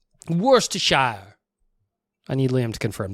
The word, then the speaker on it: Worcestershire: county as well sistershire in england it's worcestershire he's just he's just so dumb i love that one worse to shower worse to shire i need liam to